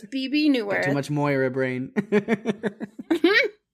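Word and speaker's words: Bebe: what yes Pig thanks for the correction it's BB new much Mo a brain she played Lilith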